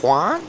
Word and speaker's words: Huang: Huang? Huang. Like Guantanamera.